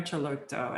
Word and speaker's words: Celotto: antonio celotto which is spelled c-e-l-o-t-t-o so antonio chalotto and if you look